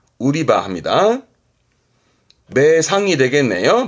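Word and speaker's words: 売り場: 우리말로는 매장이 되겠습니다만 일본 친구들은 파는 장소 개념으로 발음을 우리바 우리바 합니다 매상이 되겠네요 발음은 우리하게 우리하게 뒷자 가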